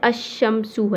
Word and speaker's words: الشمس: یعنی کہ بتا دیا۔ اب جیسے الشمسو ہے، اب یہاں پر جو لام ہے یہاں پر لام کو نہیں پڑھا، اب لام کے بجائے